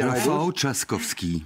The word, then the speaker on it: Rafał Trzaskowski: Alors je vais demander la prononciation exacte à Gauthier Rybinski. Rafał Trzaskowski.